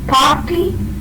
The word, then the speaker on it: party: The r sound is never pronounced before a consonant.